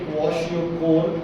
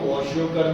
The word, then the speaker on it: क्वाशियोकोर: एक का नाम होता है बच्चे क्वाशियोकोर, इसको बोला तो जाता है क्वाशियोकोर, ठीक है, इसको वॉशियोकर भी बोल देते हैं। एग्जैक्ट इसकी प्रोनाउंसिएशन क्या है? क्वाशियोकोर बोलते हैं, बाकी आप इसको क्वाशियोकर बोलते हैं।